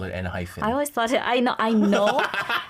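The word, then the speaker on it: ENHYPEN: Mispronounced because, come on, hyphen, right? Because we know hyphen, but it's N-hyphen. Yes. I caught that this year, actually last week. No, whenever it's in Korean, I say N-hyphen.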